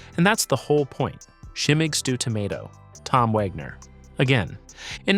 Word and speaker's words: Schimmeig Stoo: Shimmig stew tomato, Tom Wagner.